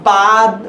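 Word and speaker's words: باد: বের সাথে কি যুক্ত হয়েছে আলিফ, কিন্তু এর উচ্চারণটা বাদ বা বোধ এরকম না হয়ে ব হচ্ছে।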